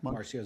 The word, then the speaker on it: Marcio: Is it Marcio, or am I pronouncing his name right? Yeah, Marcio Zuvi.